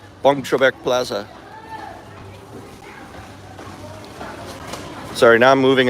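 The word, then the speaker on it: Boeng Trabek: So the bong is spelled weird. I forget how to do it. B-O-E-N-G or B-E-O. I think B-O-E-N-G. B-O-E-N-G and then Trebek, like Alex Trebek. Bong Trebek Plaza.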